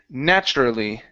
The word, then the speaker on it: naturally: So, when you have a tu together like so. Okay. Um, you can pronounce it like a ch.